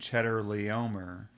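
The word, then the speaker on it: Chedorlaomer: to pig um where there's a guy named cheddar leomer yeah good way good good pronunciation of the name well the only reason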